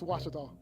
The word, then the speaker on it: Ouachita: it's washita baptist university get it right it's washable people it's washata henderson leads 25-9 the